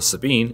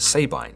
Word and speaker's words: Sabine: Other pronunciations of the Sabine include Sabine and Sabina, but for the sake of this video, we'll be going with Sabine.